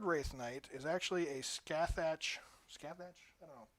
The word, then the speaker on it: Scathach: And then the 3rd Wraith Knight is actually a Scathach. Scathach? I don't know. Eldar players correct me if I'm wrong, but I'm pretty sure that's how it's pronounced. Scathach.